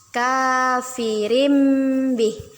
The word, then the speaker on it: كافر به: Kafirim bih. Hukum bacaannya yaitu iqlab. Kita ganti bacaan tanwin menjadi mim. Yang awalnya kafirin bih menjadi kafirim bih. Kafirim bih. Dengan ditahan 2 harokat.